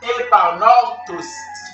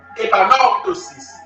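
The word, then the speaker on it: epanorthosis: Le mot corriger vient du grec épanortosis. Comment s'écrit épanortosis?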